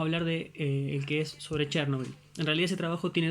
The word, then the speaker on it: Chernóbil: primer lugar recuerden que la pronunciación correcta en español en realidad chernóbil así está traducido e incluso lleva tilde pero ha trascendido de